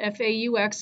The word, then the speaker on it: faux: F-A-U-X is pronounced faux, means fake or imitation, false.